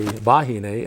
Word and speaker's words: wahine: that that's right certainly w's can actually be v's so most of us locals say vahine instead of wahine yeah and if you're